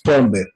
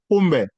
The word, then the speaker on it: pombe: The right spelling is po, E-O, po, then mbe, mbe, mbe, Pombe. pombe. Pombe. Yeah, this can be the way you pronounce it, Sister Val.